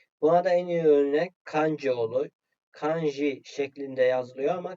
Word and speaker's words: kanji: J harfinin gibi Buna da en iyi örnek kanji olur kanji şeklinde yazılıyor ama kanji şeklinde okunuyor ha Siz buna J şeklinde telaffuz ederseniz